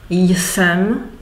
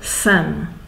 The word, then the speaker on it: jsem: There is no need in the pronunciation to pronounce the initial J. So some people say jsem, some people sem. The colloquial Czech says sem.